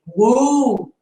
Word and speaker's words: would: Até porque o L no inglês, ou ele tem som de L mesmo, lá no céu da boca, né? Tipo, will, ou ele é mudo, ou ele é quase silencioso, quase mudo. Então, aqui, ó, o som é would, esse meio aqui, ó, would, should, could, e não could, should, would, como eu ouço a maioria